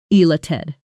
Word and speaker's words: elated: Notice the stress on the second syllable. Elated.